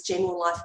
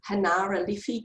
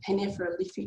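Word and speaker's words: Generalife: it looks like it's General Life Gardens. It's Hanara Liffey Gardens is the correct way that you pronounce that, but the G is actually a H, but it's a real harsh Hanefra, you know, I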